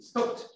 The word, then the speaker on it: stopped: Pronunciation is only T. Stopped.